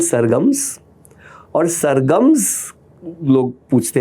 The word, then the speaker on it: SRGMS: नाम दी आपने सरगम, तो सरगम्स और हमने स्पेलिंग किया है SRGMS. एंड एवरीवन सेज यार तो उसमें मतलब मिट्टी में मिला दिया बिकॉज एवरीवन सेज SRGMS कब आ रहा है? अरे सरगम्स नाम है.